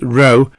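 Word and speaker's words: rho: Resistivity is called ρ, pronounced row as in rowing a boat, and uses the Greek symbol shown.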